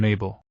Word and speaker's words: Mabel: back the silence and Mabel having regained some of her original enthusiasm joined in by adding lyrics to his beatbox noises my name is Mabel it rhymes with table it also rhymes with